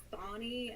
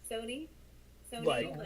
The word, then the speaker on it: Sony: Sonny or Sony? Sony like Sony PlayStation.